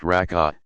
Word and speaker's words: rak'ah: The number of cycles, rak'ah, pronounced rak'ah, depends on which prescribed prayer one is performing.